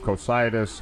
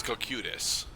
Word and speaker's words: Cocytus: Now, you Ultimately pronounce it precludes. Cocytus, but I've always pronounced it as Cocutus. But there's no Q in there. It's a Y.